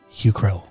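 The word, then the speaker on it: Hucrele: the favors of house hucrell how do you spell that your crew uh h-u-c-r-e-l-e hugh krill okay she looks stern is not the word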